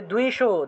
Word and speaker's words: দ্বিষো: যশো দেহি দ্বিষো জহি, দয়ের নিচে বফলা, তাহলে দুও উচ্চারণ আসবে, তাহলে দ্বিষো দ্বিষো জহি।